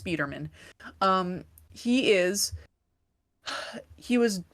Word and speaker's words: Speederman: Um, it's spelled Spider-Man with two N's, but it's pronounced Speederman.